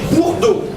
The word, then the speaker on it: Bordeaux: Et autre chose, Bordeaux ne s'est pas toujours appelé Bordeaux. Avant, ça s'appelait Bourdeaux. Oui, c'est la prononciation de l'époque.